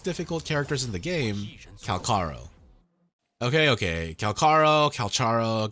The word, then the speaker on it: Calcharo: characters in the game calaro okay okay calaro calaro go with whatever you want but just know that in Chinese Korean and Japanese the first two syllables are kaka do with that information